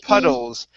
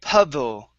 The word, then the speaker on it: puddle: word puddle okay and you were saying pudle pudle pronouncing a d it's not pudle remember and I told you to switch it to an r and you said oh yeah puddle s yeah okay it's an R so it's the same